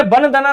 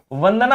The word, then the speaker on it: वंदना: अरे वन दना थोड़ी होता है मेरे दोस्त। वंदना होता है।